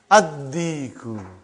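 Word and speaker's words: الديك: How will you pronounce it? Ad-Diku. Why you did not pronounce Lam? Because it is sun letter.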